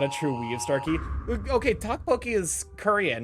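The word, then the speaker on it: 떡볶이: in recent history because I kept calling it teokbokki instead of tteokbokki, and I got a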